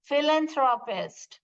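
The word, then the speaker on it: philanthropist: कैसे प्रोनाउंस करते हैं फिलांथस फिलन थ्रो पेस्ट देखिए फिल ए एफ का साउंड आएगा पी एच जब आ रहा है फिल जैसे हम भरना के कैसे फिल लिखते हैं वैसे आपका प्रोनाउंस आएगा ये फिलांथस ये फिलांथस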